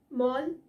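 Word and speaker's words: mall: her about the meeting अगला है मॉल एंड मोल again very common but of miss pronounced मॉल का मतलब होता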